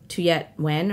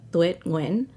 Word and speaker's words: Tuyet Nguyen: My name, I introduce myself as Tuyet Nguyen or Tuyet Nguyen, but that is not correct. That is like not the way you pronounce it in Vietnamese. It is, in Vietnamese, it's like Tuyet Nguyen, but I made a